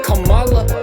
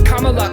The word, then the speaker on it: Kamala: lotus in Sanskrit not camela doesn't rhyme with Canada cabinet going be camea no kalala don't say Kamala that has to stop it's Kamala cuz K come back